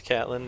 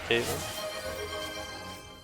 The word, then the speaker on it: Catlin: wrong all this time it's Catlin not Caitlyn ah Cyn just redeemed